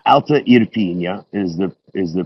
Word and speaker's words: Irpinia: Alta it's Irpinia. Alta Irpinia is the pronunciation.